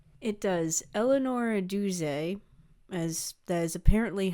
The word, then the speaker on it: Duse: Eleanor Doo, as that is apparently how her last name is pronounced, according to the biographer, Helen Shei. Uh, oddly enough, it is French.